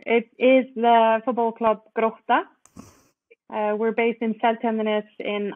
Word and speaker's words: Grótta: and their club, and they're going to correctly pronounce the name for me. Go, Thora. So it is the football club Grótta.